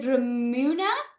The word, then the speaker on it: Ramuna: Okay, so is it Ramuna? Am I pronouncing that right? Yes, that's right.